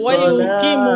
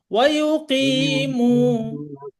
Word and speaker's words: ويقيمون: ويقيمون এই যে ওয়াইউকিমু, الصلاة কি মু এখানে টান হচ্ছে, এটা আর এটা সমান টান হবে। ওয়াইউকিমু।